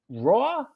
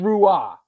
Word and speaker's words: Rua: july 10th johnny rua i always i pronounce it wrong johnny raw it's i know it's not rua i got to get this straight i'm sorry johnny uh